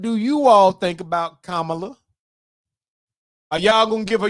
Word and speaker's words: Kamala: Did Gwendolyn Lady Elegance Preacher say it's like saying coma la? Coma? Come on, girl. That's from Alabama. That is not how that girl, she do not pronounce her name like no coma. Kamala.